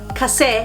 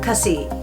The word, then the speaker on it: kasi: First of all, kasi or kasi. Both pronunciations are fine.